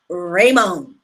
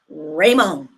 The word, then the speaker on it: Ramon: to date a man named raymon you have to say it like Ramon that's how you say it right so she